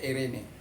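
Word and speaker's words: εἰρήνη: Biasanya kita menyebut irini. Ini irini, ini pronunciation Pronunciation Greek modern ya.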